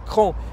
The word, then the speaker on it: Craon: ne sauraient pas encore ça s'écrit craon mais ça se prononce cran et nous sommes devant